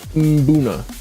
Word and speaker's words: Mbuna: According to Wikipedia, Mbuna, pronounced MMM-BOO-na.